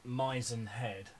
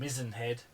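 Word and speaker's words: Mizen Head: And then we ended up at Mizzen Head. Yes. Or Mizzen Head. However you want to pronounce it.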